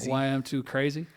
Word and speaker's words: YM2CRACE: YM2 Crace. That's how you say it? Crazy. YM2 Crazy.